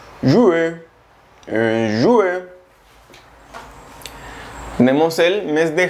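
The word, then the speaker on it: juin: El mes de junio se pronuncia jue. Jue, jue.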